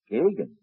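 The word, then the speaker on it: Geoghegan: Pronounced Daggan, Mr. Godfrey. Gaggan. Geogheggan comes out Gaggan.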